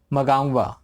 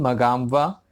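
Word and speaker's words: Mnangagwa: Elect हुए हैं, Emerson मगांगवा। Emerson, थोड़ा प्रोनाउंसिएशन अलग हो जाता है अफ्रीकन नेम्स का।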